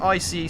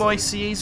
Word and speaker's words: ICE: And do you call them ICEs or do you call them ICEs? Definitely ICE. So ICE would obviously be the English pronunciation, but it is an abbreviation. It's meant to be 3 separate letters.